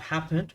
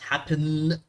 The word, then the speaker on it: happened: And here we have happened. We don't double it because the first, because the syllable is not stressed, okay? The last one is not happen. We just say happen with a khafif N, okay?